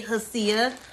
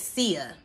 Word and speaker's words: HSIA: looks like it say hasia but I think that the H is silent so I'm gonna pronounce it Sia okay so you guys